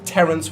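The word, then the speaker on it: Pterrence: Beastmaster Ranger who rides Terrence with a silent P, the pterodactyl.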